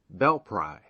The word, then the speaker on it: Belpre: in ohio is belpre short for belle prairie and now locally pronounced bell pry settled by revolutionary soldiers